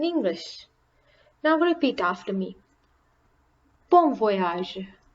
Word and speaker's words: bon voyage: voyage as in English now repeat after me bon voyage bon voyage Bon Appetit Bon Appetit enjoy your meal or